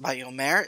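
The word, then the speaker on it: וַיֹּאמֶר: So we're looking at the word Vayomer, and the reason I know it's pronounced Vayomer is because there are three vowels here inserted by the Masoretes so that I know that it's Va, Yo, and Mer.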